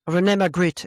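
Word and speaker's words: René Magritte: Is that how you pronounce it? Renee McGrit.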